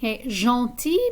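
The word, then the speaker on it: gentil: have gro and gross jean ti means nice when we add an s to the end it doesn't change the pronunciation and in feminine singular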